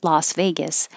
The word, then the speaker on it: Las Vegas: was a good question l-a-s as in las vegas l-o-s as in los angeles we pronounce them the same ah la las vegas and los angeles and that's the same ah as in loss and if you have